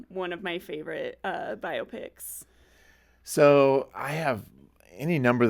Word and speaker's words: biopic: let me just say if you've been pronouncing it biopic you're not alone there are out there I I think I learned only recently that it was pronounced biopic and of course as